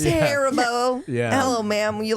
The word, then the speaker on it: Haribo: or Haro at least Haribo Haribo oh it's Haribo hello ma'am you like some harabo sounds like Canadian wild and what did you